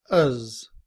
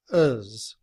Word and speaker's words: has: In reduced form, has becomes uz, with the schwa and the letter z. We do not pronounce the letter H, uz.